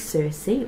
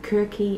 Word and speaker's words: Circe: Now, this is Circe, or you can pronounce it Kirky.